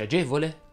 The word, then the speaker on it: agevole: algida cuore di bagni la e delle parole che terminano in evola e volee e voli e volo va pronunciata chiusa infatti si dice agevole amorevole stucchevole abominevole servizievole